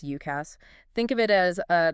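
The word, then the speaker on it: UCaaS: Then there's UCAS, which we pronounce UKASS.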